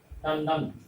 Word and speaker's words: टंडन: टंडन उच्चारण न जैसा होगा, टंडन।